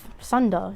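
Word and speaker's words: サンダー: For Sunda, it's really Sunda, not Thunder. I just said Thunder so you guys can understand me. Japanese pronunciation is a little bit different.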